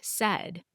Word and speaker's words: said: I noticed this word has 4 letters, but only 3 sounds. S, d. Isn't that interesting? The AI pattern makes the short sound in this word.